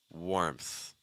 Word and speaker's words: warmth: Warmth, warmth. So we have an R sound, slightly R colored vowel, then an M sound followed by a TH.